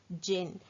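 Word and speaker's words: djinn: So here you can see the word jinn. The spelling is D-J-I-N-N, but here D is silent.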